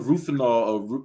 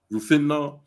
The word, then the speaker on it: Rohypnol: So anyway, many times, the effects of roofanol, how you pronounce it again, Bob? Rohypnol. You can see in there, it's got like hypnosis, rohypnol.